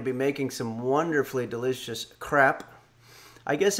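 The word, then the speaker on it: crêpes: We're going to be making some wonderfully delicious crepe. I guess in France they don't pronounce the S at the end, so it's not, it doesn't sound like it's plural, but it is.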